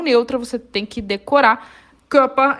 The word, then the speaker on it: Körper: A palavra corpo se diz der Körper. Olha que interessante essa palavra para a gente aprender pronúncia. O O-umlaut tem som de boca de O falando E, que.